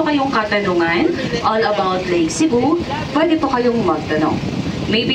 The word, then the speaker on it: Sebu: Sa word po na Lake Cebu, yung tribal word po dyan ay yung Cebu, yung SEBU po, yung tamang pagbigkas po nun ay Cebu.